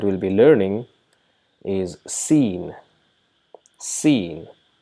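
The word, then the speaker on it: سين: Sheen. Just like we pronounce seen in English, right? S-E-E-N is an English word which is pronounced as seen, and this is exactly the name of the letter Sheen.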